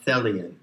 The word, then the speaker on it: Thelion: intended that you are a Thalia rhymes with helian which means basically that